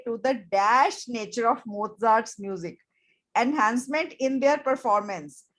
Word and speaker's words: Mozart: He indicated that a 10-minute dose of Mozart, इसकी pronunciation है Mozart, could temporarily boost intelligence.